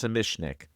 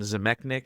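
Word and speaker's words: Zamecnik: Zemishnik. In older commentaries, I erroneously called him Zemechnik, but it's pronounced Zemishnik.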